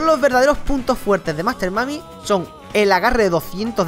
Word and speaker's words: Master Mummy: cero Master mami qu Por cierto se pronuncia Master mami no se pronuncia Master mumi como me decí mucho al